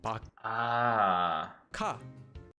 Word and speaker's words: 박하: The first syllable ends in the base consonant kiok and is followed by a hyut, so it becomes a kiok. This becomes pronounced as bak. Ka.